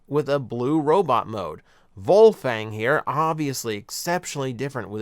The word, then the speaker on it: Wolfang: this so for starters it's wolfang or uh or in this version it is meant to be pronounced uh volfang uh going germanic with the pronunciation that is intentional what's weird about it